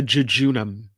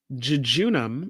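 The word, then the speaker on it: jejunum: body would you find would you find the junam where in the body would you find the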